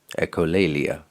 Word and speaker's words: echolalia: Am I pronouncing the word correctly? Say it again. Echolalia. Echolalia, yes.